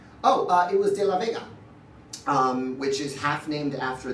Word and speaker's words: De La Vega: Puerto Rican artist, and because it rhymes with bodega.